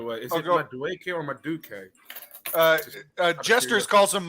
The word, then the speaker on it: Madueke: It's Like Madueke. That's how you say it.